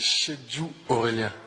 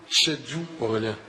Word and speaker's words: Chedjou Aurélien: Acaba kendisi söyleyebilir mi nasıl telaffuz ediliyor? C'est Chedjou Aurélien. Chedjou Aurélien. Bir daha alabilir misiniz? Chedjou Aurélien.